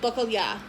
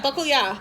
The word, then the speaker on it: bacalhau: And in Portuguese, the salted cod is called bacalhau. I had to stare out the window to get the pronunciation properly. So yeah, bacalhau.